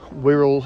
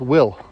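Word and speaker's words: Wyll: This is more to do with the fact is that Whirl is I think it's Whirl, isn't it? I think I think it's pronounced No, it's pronounced Will. I think it's pronounced Will.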